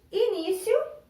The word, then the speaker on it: início: Aonde que está o acento da palavra início? Ó. I-ni-ci-o. Está no ni.